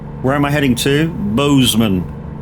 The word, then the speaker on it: Bozeman: Bozeman. Or Bosman, depending how you want to pronounce it.